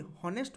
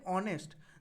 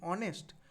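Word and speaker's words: honest: কারণ হচ্ছে এখানে উচ্চারণটা। আমরা কি বলি? হনেস্ট বলি না। আমরা বলি অনেস্ট।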